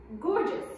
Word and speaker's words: gorgeous: So the first letter here is G. Is it a soft G or a hard G?